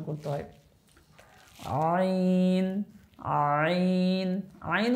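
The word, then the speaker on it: ع: তারপর আরেকটা অক্ষর হচ্ছে আইন যেগুলো একটু কঠিন অক্ষর সেগুলো বলতেছি হালকের মধ্য থেকে একটু গলার চাপের সাথে উচ্চারণ হবে আইন আইন আরেকটা অক্ষর হচ্ছে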